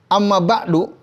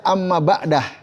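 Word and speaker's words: أما بعد: selalu mengucapkan Amma ba'du Amma ba'du itu juga bisa dibaca Amma ba'da tapi Amma ba'du Afda lebih utama pernah nggak dengar penceramah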